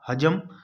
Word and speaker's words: حجم: لفظ تھا حجم، یعنی ہے کے اوپر جو ہے وہ زبر والا ٹھیک ہے۔ سوال نمبر 58 بھی